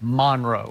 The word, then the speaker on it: Monroe: North Central North Louisiana Monroe right that's how you say it Monroe cuz when I was there I thought it Monroe but they say Monro right Monro Monro so when